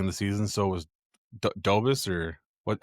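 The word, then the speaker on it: Dobeš: So, was Dobis or what how you say his name last night? Dobbish.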